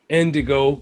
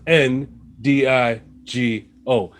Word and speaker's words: Ndigo: Ndigo, that's Ndigo. It's spelled just like how it sounds.